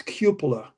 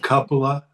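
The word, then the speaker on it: cupola: The preferred pronunciation of it's cupula as if it's like now it's like you you know you quue somebody into something YouTube. It's not kapa. Not poop.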